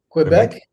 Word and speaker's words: Québec: Québec?